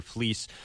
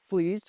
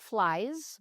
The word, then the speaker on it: Flies: So, it means we pronounce the E, not the I. Yeah. So, it looks like flies, but it's pronounced fleece.